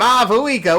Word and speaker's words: Mavuika: my liyrical chops to say her name m vua with a V my favorite letter in